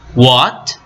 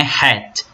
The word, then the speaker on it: what: quem depois nós temos what what aí nesse caso o h ele não tem som tá e o w é pronunciado não é Hat é What ok que